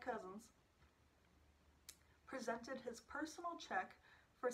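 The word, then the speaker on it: Couzens: u.s senator james j cousins yes i looked up how to pronounce his name he says just like cousins presented his personal check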